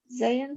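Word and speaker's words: זין: How do you pronounce it? Zion? Zayin?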